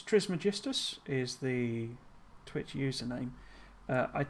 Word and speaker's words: Trismegistus: But it's spelt Trismegistus, M-E. That's, you know, because of how you pronounce it in Greek. But so it is a sort of misspelling of it. But yeah, Trismegistus would be the proper way, but Triggles is what